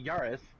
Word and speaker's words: Yaris: supposed to pronounce it i say yaris which is american way of saying it what do you how